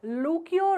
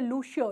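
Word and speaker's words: Lucio: Author भाई जो है इसके लूकियो रोड्रिक्स या लूकियो या लूशियो दोनों ही बोल सकते हैं इनको, लॉशियो भी बोल सकते हैं। बहुत सारे नाम के प्रोनाउंसिएशन है, सभी एक्सेप्टेबल हैं।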